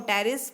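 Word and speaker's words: Pteris: तो P फॉर सैलोटम और L for lycopodium और E फॉर एक्विसेटम, A फॉर एडेंथम, S फॉर स्लेजनेला और Salvinia, P फॉर टेरिस, P silent है और D फॉर ड्रायो टेरिस।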